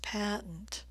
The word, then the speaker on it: patent: the word here is patent patent I'm stressing the first vowel sound with a nice I as in black